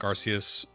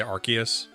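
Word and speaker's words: Arceus: Sorry, I always say Arus, but I for the Conquest video, I I tried really hard to say Archus because apparently that's the right way to say it because of the catch mechanics.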